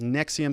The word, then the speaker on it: NXIVM: was involved in the nexium it's called the nx ivm it's pronounced nexium sex cult and she's